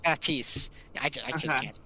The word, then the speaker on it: Baptiste: earlier, Baptiste, Pronounce his name. Baptiste. Baptiste.